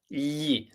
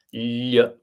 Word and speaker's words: gli: Gli is a difficult sound for, I guess, non-Italian native speakers to pronounce. Gli.